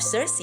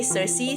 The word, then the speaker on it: Circe: And you have been listening to a summary of Circe by Madeline Miller. Now, some people say Circe, some people say Circe, but however you say her name, she is one of the most famous witches of Greek mythology.